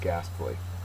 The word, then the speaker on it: ghastly: Pretty ghastly. It's an adjective. First syllable is accented.